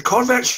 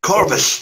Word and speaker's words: Corvus: The Corvettes, is that how you pronounce that? The ghost-like entities? Yeah. Corvus. Corvus, yeah.